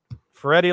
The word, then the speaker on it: Ferretti: Is it Ferretti like spaghetti? Is that how you say it? It's something like that. They sound similar.